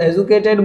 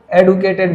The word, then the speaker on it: educated: कुछ लोग इसको एजुकेटेड बोलते हैं और कुछ लोग इसको एडुकेटेड बोलते हैं। जो मॉडर्न इंग्लिश है वो एडुकेटेड को ज़्यादा सपोर्ट करती है, तो आप अपनी इच्छा